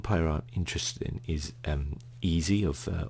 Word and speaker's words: Eze: I think the one player I'm interested in is Eze or Eze actually is his name. It should correctly be pronounced, of Crystal Palace.